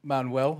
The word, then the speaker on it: Manuell: Our guests in the studio today are John and Marrie Manuell. I pronounced that right?